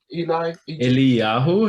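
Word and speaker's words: Eliyahu: so if it's the goal by reminding me eli yahoo that's e-l-i-y a-h-u and then gold red okay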